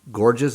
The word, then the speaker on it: Gorges: and I have gorgees is that the way you say your last name that's close enough georgees is how it's pronounced Geor it's German yeah get just little